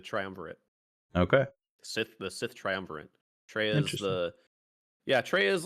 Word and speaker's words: Kreia: It's really cool to see, Nihilus and Scion and Travala. Is that how you say her name? Treya.